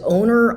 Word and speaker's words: oner: making a wer oh maybe it's o own wner okay o n er as owner honor owner so that is like wer acting.